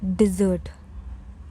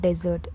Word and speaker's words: dessert: If you say it dessert, no. Desert is a dry sandy wasteland like the Sahara. The sweet dish turns into a soft Z. It's dessert. Dessert, not desert. Dessert.